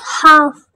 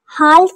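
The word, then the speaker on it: half: फर सकून ठीक है हाफ हाल्फ नहीं पढ़ेंगे हाफ एल साइलेंट होगा हाफ मींस आधा हाफ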